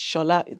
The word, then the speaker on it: Shola: People who are Nigerians will be going, what is Shola? It's Shola. That's how it's pronounced.